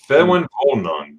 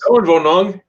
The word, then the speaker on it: Ferienwohnung: Ferienwohnung. Ooh. Ferienwohnung. Because the W's are V's. Yes. Ferienwohnung.